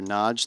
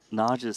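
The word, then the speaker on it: Nagy: What I've been told and and I was told this by llosh that it's just difficult for English speakers to pronounce naj the Hungarian way. So, he said najge is sufficient, but uh you know,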